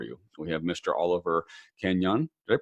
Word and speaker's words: Kenyon: Oliver Kenyon. Did I pronounce that right, Oliver? You did, Kenyon.